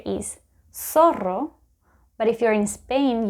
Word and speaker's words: zorro: Or another word that contains this letter is zorro, but if you're in Spain, you would listen to the word zorro.